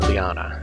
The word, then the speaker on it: Liana: Liana is how the dead author pronounces it.